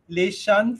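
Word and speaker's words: Leaxen: Leshan Freitas, I know. Your pronunciation is right.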